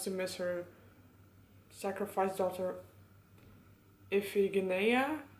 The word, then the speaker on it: Iphigenia: miss her sacrifice daughter Iphigenia I think that's how you pronounce it in Greek I have never read